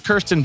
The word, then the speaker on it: Kirsten: So it's Kirsten? Yeah. That's how you pronounce it, not Kirsten? Okay. It is Kirsten. Yeah, Kirsten. It is Kirsten.